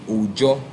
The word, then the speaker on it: Ojo: They pronounce it as J, Ojo.